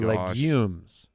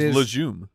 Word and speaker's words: legumes: I thought it was leum no it's legumes legum it's a hard G yes I thought it was legens it's not I've never